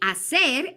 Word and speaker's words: hacer: Now remember, hacer, that H is silent. So we say hacer and the yo conjugation is hago.